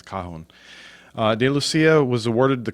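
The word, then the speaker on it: cajón: And that may be pronounced cajon, because there's no accent mark, and it ends in an N, so I think it's cajon.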